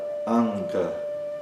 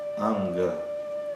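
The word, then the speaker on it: aṅga: Quando ela aparece antes de uma das consoantes do grupo, então, por exemplo, na palavra anga, anga, que significa membro, né? A pronúncia é praticamente como a de um n, mas é um som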